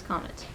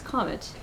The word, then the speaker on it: comet: off what is haley's comment haley's comment comment comment it's not a comment haley isn't commenting on anything and yes i did look up how to pronounce it haley's comet is a periodic comet